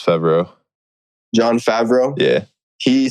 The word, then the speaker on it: Favreau: No, it's Favreau.